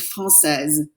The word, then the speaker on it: française: The female version always has that Z consonant at the end. It's an S, it's a T, whatever it is. It's because of that silent E you pronounce it.